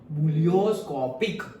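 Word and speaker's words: ebullioscopic: constant है वही है स्पेलिंग याद रख लेना बलियो स्कोपिक ई साइलेंट ओके वोस अभी तो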